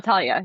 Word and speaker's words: Talia: And is it Thalia or Talia? I never pronounce it right. Thalia, Thalia, Talia, yeah, Talia.